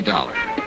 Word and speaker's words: Dollar: was Buzz I didn't it's dollar Johnny dollar dollar huh yeah rhymes with collar I always like to